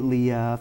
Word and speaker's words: Leah: so and then for the biblical Leah in the Bible, that is actually how it's supposed to be pronounced. Some people say it Leah, which that's more Western or American pronunciation.